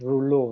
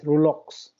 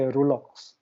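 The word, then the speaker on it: rouleaux: this is uh lulu it comes from that french word so it's pronounced rouleu okay but the product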